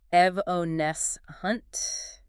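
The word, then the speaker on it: evanescent: Evancent. E V A N E S C E N T. Evones hunt.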